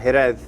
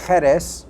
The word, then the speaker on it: Jerez: Well, the word Jerez, it could be said both with a J or an X, Okay. which is what some people have seen, Jerez.